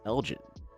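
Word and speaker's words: Elgin: She went to uh it's called Elgen. People pronounce it Elgen. It is Elgen.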